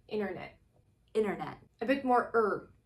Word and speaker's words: internet: second word which is internet it has no t's whatsoever what happens to them the first t is